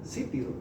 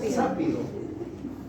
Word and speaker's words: sápido: Se debe decir término que tal vez recién estés conociendo, bueno, sápido. Sápido.